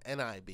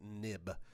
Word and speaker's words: XIB: They used to be called NIB in a much earlier version of iOS. We call their XIB files now, but we still pronounce it nib.